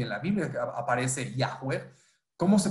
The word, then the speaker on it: Yahweh: Yah, Yahweh, Yahweh, Yahvé, Jehová. Es como todas las modificaciones hasta llegar a Jehová. El original es Yahweh.